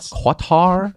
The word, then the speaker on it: Qatar: East Country for them cutter selling the sexy lineup cutter isn't is a guitar uh I've heard it pronounced quatar sorry Qatar no cybertruck yet Tesla